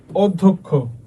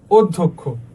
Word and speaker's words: অধ্যক্ষ: ভুল লিখছে তারপর তারপরে দেখো অ শুরুতে পরে যদি জ ফর যুক্ত ব্যঞ্জন ধ্বনি থাকে তাহলে কি হবে ভাইয়া? অ এর উচ্চারণ কিসের মধ্যে হবে? ও এর মত হবে। এটা তো জানি আমরা এর উচ্চারণ ওর মতোই হবে সবগুলাতে।